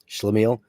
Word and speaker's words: Schlemiel: I pronounce it. Schlemiel.